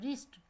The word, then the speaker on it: wrist: इसी तरह जब आप रिस्ट के स्पेलिंग लिखते हैं तो WRIST लिखते हैं, लेकिन जब आप इसे पढ़ते हैं तो आर से शुरू करते हैं, रिस्ट।